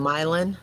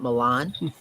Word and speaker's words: Milan: I come from a place in Illinois where we have a town named Milan, not Milan, a town named Orion,